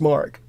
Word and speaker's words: marque: There were still letters of marque that it was spelled M-A-R-Q-U-E. But it's pronounced mark.